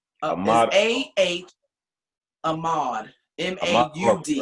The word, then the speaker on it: Ahmaud: Ahmaud. Ahmaud.